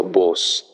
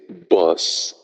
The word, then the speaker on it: bus: Ça sonne comme boss, mais c'est pas boss. C'est bus.